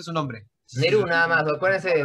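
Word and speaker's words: Nehru: ¿Pero cómo se pronuncia su nombre? Neru, nada más, acuérdense de Neru, nada más.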